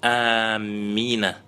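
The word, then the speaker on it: آمين: То, что наилучший вид произношения – это первый. Протягивая первый звук и не удваивая мим.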